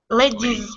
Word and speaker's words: ladies: sound flies flies of course uh lady ladies ladies ladies with a with a z sound because they all end all of these are going to end with a with a vowel sound so they all get